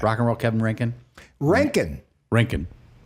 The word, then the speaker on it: Roentgen: got my buddy Kevin Rankin. Thanks for here. bringing it back. Rock and roll Kevin Rankin. Rankin. But it's not spelled like Rankin and Bass. Scream it out. Like a silent O.